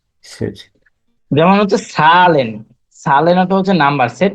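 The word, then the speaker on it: Zahlen: এটা হচ্ছে সবসময় ছয়ের মতো উচ্চারণ হবে বেশিরভাগ সময়। সেট। জি, সেট। যেমন হচ্ছে সালেন, সালেন অর্থ হচ্ছে নাম্বার, সেট AHLAN, সালেন।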